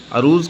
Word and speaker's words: عروض: علم عروض کہتے ہیں۔ عروض کا صحیح تلفظ عین کے زبر کے ساتھ ہے، جیسا کہ میں نے ابھی بتایا۔ عروض جاننے والا شعر